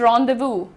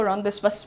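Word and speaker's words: rendezvous: Apostrophe अपॉस्टफी pronounced रदव। इट इज़ रदव। बहुत सारे लोग उसको रदस्पस बोलते हैं।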